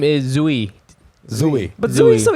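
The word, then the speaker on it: Duy: My Vietnamese name is Zui. Zooey. But Zooey is so easy to pronounce.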